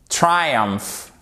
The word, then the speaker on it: triumph: Phenomenon, triumph. Exactement, le triomphe, un phénomène. Et là, toujours, vous regardez où se trouve votre accent tonique. Phenomenon, ok? Triumph. Accent tonique sur la première syllabe.